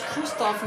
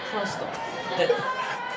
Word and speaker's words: Christoph: It's Christoph, not Christoph. I appreciate the sentiment.